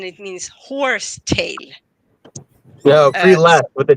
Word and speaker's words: prelest: Wait, you said spiritual Prelast. I'm not sure I know pre-last. Prelest is it's a very specific word, but it basically means self delusion.